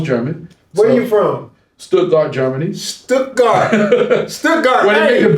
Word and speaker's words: Stuttgart: He said Stuttgart.